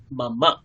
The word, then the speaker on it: मम: মাম হয় না, মাম্মা নাম। আরেকবার বলুন, মাম্মা নাম। मम नाम। মাম্মা মানে পিছনে অকার যুক্ত আছে, আমাদেরকে পূর্ণ উচ্চারণ করতে হয় সংস্কৃত উচ্চারণের কালে।